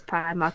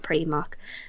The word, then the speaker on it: Primark: like oh look yeah is primark it's not premark and old old motor